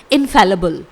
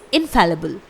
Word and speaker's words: infallible: इसका मतलब है ऐसा व्यक्ति जो गलतियाँ नहीं कर सकता है, तो उसे हम वन वर्ड इंग्लिश में बोलेंगे इनफैलिबल। स्पेलिंग है INFALLIBLE। इट इज़ इनफैलिबल।